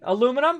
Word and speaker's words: aluminum: some of them uh here in the United States that's how we say aluminum aluminum hey it's not me that's that's the American pronunciation now if I go ahead and choose it I can choose a different I can do the British version of it illuminum illuminum right which sounds weird to me but then again